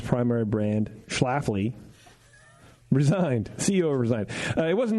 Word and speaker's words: Schlafly: You heard of Schlafly? Schlafly? The locals go say Schlafly. Schlafly? Schlafly. The first L is silent?